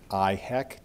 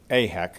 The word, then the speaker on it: AIHEC: And we've just heard Gary talk about the efforts of IHEC. Did I pronounce that correctly? AHEC, I'm sorry.